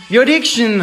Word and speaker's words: Beautiction: Comment on prononce Beautiction? Beautiction.